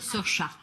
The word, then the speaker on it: Saoirse: It's Saoirse with an R, not Sarcy with an R, cause Sarcy with an R goes or not R. It's sh instead of s, instead of E, simple as can be, see Saoirse.